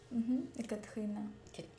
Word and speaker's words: Ekatrina: On prononce pas le E. Ekatrina.